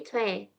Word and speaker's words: 최: Itu bacanya bukan coy ya, 여러분, tapi coy. Kayak gini, 여러분. Coy. Gitu ya. Tapi kebanyakan orang kayak nulisnya kayak ini, coy. Tapi kalau Korea gitu, marganya coy gitu kan. Itu aslinya bacanya bukan coy tapi cue. Cue, kalau ini ya kita ambil contoh.